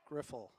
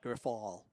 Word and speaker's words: Griffel: It's Griffel, Pedro Griffel, not Griffal, or however he wants to pronounce it.